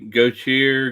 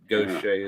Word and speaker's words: Gautier: different than we do most people look at that and they say go cheer go deer or whatever it's pronounced Gosha there's a lot of people that last name that I went to school with but Goshay is the way you pronounce it that's the way